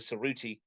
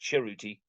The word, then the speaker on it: Cerruti: Cerruti at his school, he wants now to be pronounced Ceruti, like the Italian way.